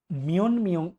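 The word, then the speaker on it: 몇 명: মিয়ম আসে, আবার বলছে ত ধ্বনির পর নিয়ন এবং মিয়ম আসলে ত ধ্বনি ন এর মতো উচ্চারণ হয় বা নিয়নের মতো উচ্চারণ হয়। তাহলে এটা সঠিক উচ্চারণ কি হবে? খাজগি পরিবারে, মিয়ন মিয়ং ইয়েও পরিবারে কজন।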